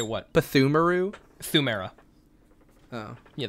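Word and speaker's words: Pthumeru: Thumera. Oh. Yeah, the P is silent.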